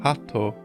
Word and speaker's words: 鳩: This is likely a pun based on the fact that the kanji is pronounced hatto, a similar sounding word to heart.